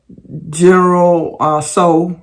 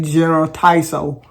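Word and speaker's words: General Tso: General So, and I real slow when I say that because I usually like to say General Taiso, but the T is silent.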